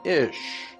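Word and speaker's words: איש: Hebrew word for man ish here's another reference word that said interesting the words for man and woman in Hebrew is identical man in Hebrew is pronounced ish and looks like this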